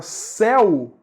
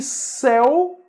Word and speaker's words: céu: que é pronúncia aberta olha faz a comparação comigo se a gente pega a palavra seu que é um pronome seu s é u seu né e a gente pega a palavra céu céu c é u certo veja que seu e céu tem uma pronúncia diferente né tem pronúncias aí diferentes se eu traz uma pronúncia fechada do é o que é a